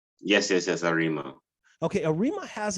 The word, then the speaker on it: Arima: Okay, now correct me if I'm wrong, because I don't want to pronounce it wrong. You're from an area called Arima? Yes, Arima.